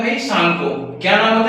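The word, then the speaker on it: Tsangpo: वहां पे इसका नाम होता है भाई सांगको। क्या नाम होता है? सांगो। टी यहां पे साइलेंट होता है। हम इसे सांगो पढ़ते हैं।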